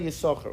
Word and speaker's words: Yissachar: So in Lubavitch, we always just say Yissachar, always.